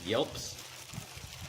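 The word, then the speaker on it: gielp: Yelps and Bs so a Yelp and it's spelled g i e l p and in the Old English and the old sax that g says a y kind of sound uh if it prefaces a vow so a Yelp and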